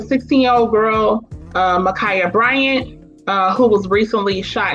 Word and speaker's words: Ma'Khia: verdict came down um a sister by name michaela bryant i believe i pronounced that right michaela michaela uh um brian kaya makaya okay makaya bryant um she got shot by